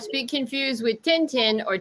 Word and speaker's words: Tintin: not speak confused with Tintin or Tintin we all know and love you know but that's a Belgian character yeah but the Belgian character and in Belgium they pronounce it Tintin but like in Latino